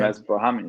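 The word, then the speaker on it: Ramiz Brahimaj: Like I saw his name, I was like, hey man, like how do you say that thing? Like, yeah, you nailed it though, yeah. Ramesh Brahmi. That's it. You got it.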